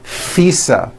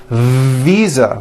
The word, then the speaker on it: visa: just received her international fisa correct no i said fisa with an unvoiced f i should have said visa with a voiced v living i am living